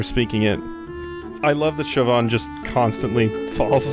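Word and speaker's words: Siobhan: was Deku Lily, that your name is actually pronounced Chauvin. I looked up a few pronunciation guides for it, and yes, it is Irish in origin, and it's Chauvin.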